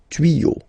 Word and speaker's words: tuyaux: Okay, des tuyaux. Same rule, you don't pronounce it. Des tuyaux.